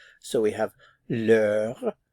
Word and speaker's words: l'heure: This is actually a la, but because the H is silent and the word begins with a vowel sound, we have to use the apostrophe. So we have l'heure, l'heure.